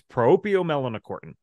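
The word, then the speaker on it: proopiomelanocortin: So here's a 9-syllable word for you. It's propiomelanocortin. And when POMC is created, it helps create certain neurotransmitters and other stuff.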